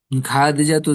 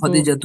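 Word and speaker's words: خديجةُ: উম, খা খাদিজাতু জাওজাতুর রাসূলি। খা তো প্রথমত টান নেই, আর দ্বিতীয়ত খয়ের উচ্চারণ তো খদিজাতু খায়ের মতো হয় না।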